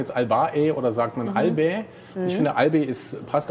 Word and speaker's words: Albae: Nein, das sind die Albäe natürlich. Richtig, es sind die Albäe.